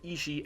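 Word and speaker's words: 石: Remember how one of the terms for “intention” or “will” in Japanese is pronounced “ishi”? Well, this particular Kanji for “stone” is read “ishi” as well.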